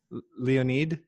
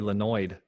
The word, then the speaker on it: Leonid: How do you say your first name, by the way? Leonid. Leonid? Yeah. Okay, Leonid. All right. I didn't want to call you Lenoid.